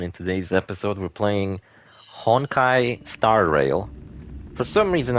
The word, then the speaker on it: Honkai: I always say something like Hong Kai Star Rail. It's like ah I mispronounced it.